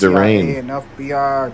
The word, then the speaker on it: Darian: Yeah, it's not Darian, it's Darain.